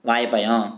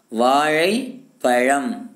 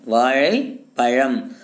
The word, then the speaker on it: வாழைப்பழம்: இன்னைக்கு இருக்கக்கூடிய காலத்தில் சில பேர் என்ன பண்ணுறான், வாழைப்பழம் வாயப்பயம் அப்படிங்கிறாங்க. அந்த மாதிரி நாம் சொல்லக்கூடாது. அந்த சிறப்பு லகரம் அப்படிங்கிற அந்த எழுத்தை சரியான உச்சரிப்பு முறையில் சொன்னால் மட்டும்தான் மொழியானது வளம் பெறும். வாழை பழம் எப்படி சொல்லுங்க, வாழை பழம். அந்த சிறப்பு லகரம், சிறப்பு லகரமானது நாக்கினை மடக்கி வருடி மேல் அந்த இதை வந்து பார்த்தீங்கன்னா வருடி சொல்லணும், வாழை பழம் அப்படின்னு சொல்லணும் சரிங்களா.